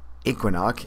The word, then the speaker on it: Equinunk: in our Northern regions whose pronunciations bear little resemblance to their spelling since strua looks phonetically like Stuka equino like equinunk and chug nut looks like choconut where famed Aviator Charles